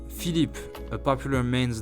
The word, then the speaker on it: Philippe: Number 2, Philippe, a popular man's name this time. Again, listen and pronounce it 3 times.